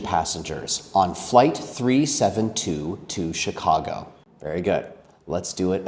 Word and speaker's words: Chicago: We pronounce it as Chicago. Chicago.